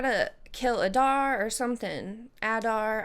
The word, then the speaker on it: Adar: kill Adar or something Adar I might be saying his whole name wrong welcome to Mordor not walg I hate him I was really hoping I'd never have to see him again you swear allegiance to Adar I do say it wrong it is Adar he hadn't even said